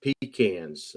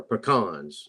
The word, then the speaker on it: pecans: forestry uh in timber pecans or pecans whichever way it depends on the prices depending upon how you say it but uh but we're